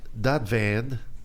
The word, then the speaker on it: Dadvand: Babak Dadvand. Am I saying it correctly? You're Dadvand. perfect.